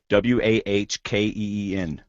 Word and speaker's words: Joaquin: I actually wrote it on my paper, Wahkeen. So I'd pronounce it right. Joaquin. Joaquin.